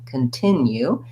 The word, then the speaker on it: continue: itself and then um the unstressed first syllable the c-o-n in this word actually doesn't say an o sound it says vowel schwa sounds like a so i'll rewrite that as c u n because often times that will help you say that correctly con continue and i really want to be light and short on that first syllable i do have